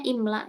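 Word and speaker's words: إملاء: Ini kalau tulisannya gini tuh bacanya imla ya.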